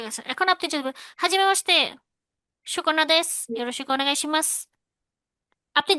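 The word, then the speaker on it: はじめまして: আচ্ছা, তাহলে এই দেখেন, এখানে একটু দেখেন, হাজিমে মাসতে যেটা বললেন, আমার উচ্চারণের ক্ষেত্রে এভাবেই টোনটা উপর থেকে নিচে নামলো। শুরুটা খুব ভদ্রভাবে, মাঝখানে একটু একই রেঞ্জে গিয়ে লাস্টে দিয়ে টানটা দিয়ে নিচের দিকে নামলো।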